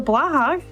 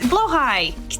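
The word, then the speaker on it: Blåhaj: If you'd like to switch Link's sprite to either Garfield or Heinz the Blahag, or Blahash, I can never pronounce it. You know what it is. It's Blowhigh.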